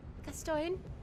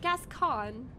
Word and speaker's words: Gascoigne: do i say right gaston i am counting on this to be the time gasp get going for oh it's gascoigne it's pronounced gascon gascon gascon okay yeah because